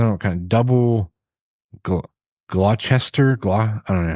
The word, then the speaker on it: Gloucester: I don't know, kind of double Gloucester. I don't know how to pronounce it.